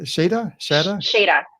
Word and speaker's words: Shada: Shada. Yeah, Shada. Just the way it's spelled. The way you think it's said, it's that way.